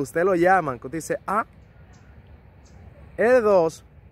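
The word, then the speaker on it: deux: lo llaman con dice 2 ahí podemos escuchar la francesa que es una e cerrada la equis no suena al menos que vaya seguida de una vocal o la hace muda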